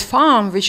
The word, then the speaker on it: femme: Another interesting terminological solution is to use the French word femme, which is pronounced as femme in English, to describe a person who expresses or identifies with femininity.